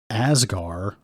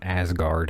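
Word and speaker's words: Azgaar: what's with asgar and it's not Asgard as in asgar whatever that's whatever that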